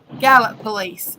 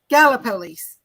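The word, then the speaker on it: Gallipolis: say it thank you Mr Zack said my last pronunciation was correct and I say Gallup police go yeah Gallup Gala police gallopolis hi there Mr a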